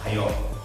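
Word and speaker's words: おはよう: O por ejemplo, en ohayo, dices ohayo.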